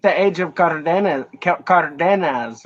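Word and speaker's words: Cárdenas: That was like the age of Cardenas, right? How do you say his name? Is that right? Cardenas, yeah.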